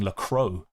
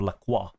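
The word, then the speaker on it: Lacroix: lock it in cuz before I was like saying Lacro instead of Laqua, which is much better.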